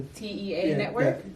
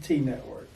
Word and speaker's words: T.E.A. Network: The T.E.A. Network? T Network. T Network? Okay, yeah. So I wasn't sure because it had the periods in between.